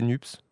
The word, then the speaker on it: NUPES: Oui, on dit plutôt NUPES, mais c'est vrai qu'on n'a jamais trop tranché. Mais au début on disait NUPS. Maintenant, on dit plus NUPES.